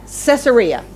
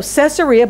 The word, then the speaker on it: Caesarea: was at the port of what how to pronounce that Caesarea okay so Caesarea but that's not where he that's not where